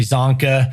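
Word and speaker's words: Csonka: In fact, I told him about Larry Zonka and how I loved watching him play on those old NFL films. Larry Zonka spelled with a C, throws you off.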